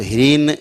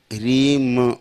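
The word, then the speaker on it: ह्रीं: जैसे कहीं आप पढ़ते हो, आता होगा बीज मंत्र में ह्रीम, तो ह्रीन नहीं पढ़ना है, ह्रीम माँ है, ह्रीम ऐसे मुंह बंद हो गया, ह्रीन तो मुंह खुला रह गया, ह्रीन। और अगर ह्रीम तो मुंह बंद हो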